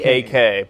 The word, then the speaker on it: Kecak: is known as the Ketchuk dance. It's like Cechuk or some shit. Kecak. But the C K-E. in this language is pronounced as a CH always.